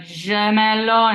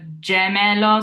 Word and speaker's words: gemello: Now, some people who've studied French tend to make that a je, like gemello instead of gemello. So we need to make sure we're doing a hard J, like jam.